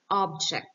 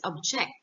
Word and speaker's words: object: is not alive like object the stress is on the first syllable while if it is a verb this means to oppose or disagree with something this is pronounced as object for example my mother